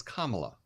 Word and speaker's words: Kamala: we've seen mamala Kamala it's Kamala like Kama it's not hard and to be respectful you should say it that way unless you're trying